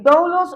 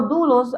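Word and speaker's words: δοῦλος: La vez pasada también así de manera rápida, yo le mencioné que eh doulos o dulos, algunos lo pronuncian de esa manera, es la palabra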